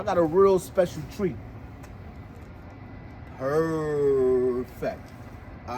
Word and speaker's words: Pervfect: of unique right so how you say it again is perfect all right so you combine two words into one yes all right so